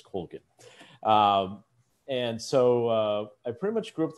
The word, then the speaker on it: Colgin: Now, the Irish pronunciation is Colgin, but we've always pronounced it as Colgin.